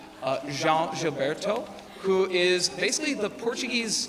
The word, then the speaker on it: João Gilberto: name of, and I'm going to get the pronunciation right, João Gilberto, who is basically the Portuguese Tom Petty.